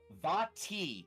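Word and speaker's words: Vaati: And then finally, the little bit, the letter forms look similar to an ancient glyph language called Vati. It is spelled V-A-A-T-I, which some unorthodox scholars consider the original written form of Auran, the language of elemental air.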